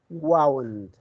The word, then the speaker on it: wound: The first word is the past form of the verb wind, W-I-N-D, which means to cover or wrap something around something else. Okay? So if you have uh, an injury, you need to wrap a bandage. The verb is called wind. Have you noticed the pronunciation? Wind. In the present form, we say wind. Okay? The past form is wound.